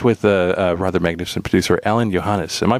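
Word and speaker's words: Alain Johannes: And you worked with a rather magnificent producer, Alan Johannes. Am I pronouncing that correctly?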